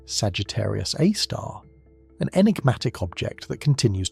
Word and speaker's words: Sagittarius A*: Deep within the densely packed core of our galaxy lies Sagittarius A, pronounced Sagittarius A star.